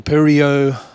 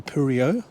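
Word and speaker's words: Perdriau: It was a Purio rubber factory. It's got a D in the name, but the D is silent in the French French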